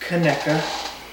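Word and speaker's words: Conecuh: to be eating two pounds of tonica otherwise pronounced kaneka no bailey you're you're twins where's its coney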